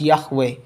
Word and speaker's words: Yahweh: a paris museum that yhwh confirmed this pronunciation as yahweh we have a lot